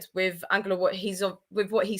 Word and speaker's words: Ange: who's asking who is Angela? I'll let Christina explain that with her. Sorry. It's just that's how you say it in Greek, Angelo. So I'll say Ange. I'll just say Ange for now.